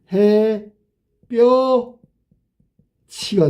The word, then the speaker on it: 햇볕이: 그러면 이거는 발음이 해 뼈 치가 돼.